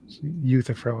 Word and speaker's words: Euthyphro: What if this is, you know, like worse than the Euthyphro dilemma? Yeah. Almost like Connections don't always connect. Euthyphro. Anyway. Euthyphro is how you pronounce that.